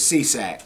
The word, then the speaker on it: Cieslak: His name is spelled C. I E S L A K. Right. And he says Cieslak.